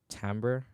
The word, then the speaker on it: timbre: Another thing I'll do is to use this kind of, I think it's called timbre is a correct pronunciation.